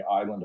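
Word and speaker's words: Islay: like the stuff on the island of Island it's like Isley is how it's spelled but it's really peaty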